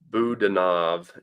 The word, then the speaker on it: Budanov: Budanov, emphasis on the second syllable.